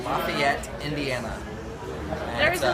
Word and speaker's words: Lafayette: There's a Lafayette in Louisiana. Yeah, Louisiana. Yeah. So this one they pronounce it differently down there. They call it Lafayette. Okay. But it's Lafayette, named after the same guy.